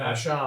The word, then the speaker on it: Vashon: point of order, is it Vashon? Okay, we'll call it Vashon. Vashon, yeah. Okay. The French pronunciation, yeah.